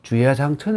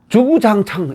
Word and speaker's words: 주야장천: 니 즐겁 끊임없이 이런 의미가 되는데 우리나라에서 이것을 주야장천 이라 하지 않고 빨리 말하다 봐요 그랬는지 주구장창 이렇게 1 주 9 장 창 그래가 쭈